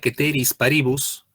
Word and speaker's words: ceteris paribus: Y acá viene otra cláusula, que esto en latín se pronuncia ceteris paribus.